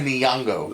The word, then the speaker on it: Nyong'o: Lupita Logano? Or Logano? Hold on, stop. From Us. I know, stop talking before I screw it up. Yeah. Lupita Nyong'o.